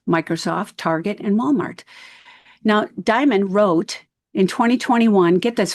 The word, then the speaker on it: Dimon: And you address and talk about JP Morgan Chase, led by Jamie Dimon.